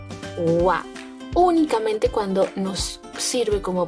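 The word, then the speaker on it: は: Esta letrita de aquí, esta sílaba, recuerda que la leemos como ja, pero cuando la vamos a utilizar como partícula la vamos a leer como wa.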